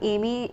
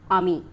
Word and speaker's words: Amy: right and uh and it's three-letter word a-m-y now people are not going to yeah like first they'd be like and uh the most common pronunciation that people have for it is ami or ami okay and uh throughout